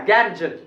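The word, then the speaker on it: Ganges: अपने लोग तो इसको पढ़ेंगे गंगेश, लेकिन अंग्रेज लोग इसको गंगेश भी नहीं पढ़ा, इसका प्रोनाउंसिएशन भी चेंज करके रख दिया। और वो इसको कहता है, 2 साउंड इसका बनाया वो लोग, इसको पढ़ेंगे गैंजज, गैंजज, और या इसको पढ़ेंगे गैंजीज, गैंजीज, या तो गैंजीज बोलिए या गैंजज।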